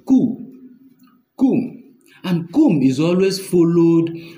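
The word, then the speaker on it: קוּם: Now, arise in Hebrew text, especially in the Hebrew Bible, is pronounced kum.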